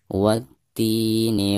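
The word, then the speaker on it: وَالتِّينِ: Jadi dari bacaan wa langsung ke ti ya, langsung ditasydidkan. Wati.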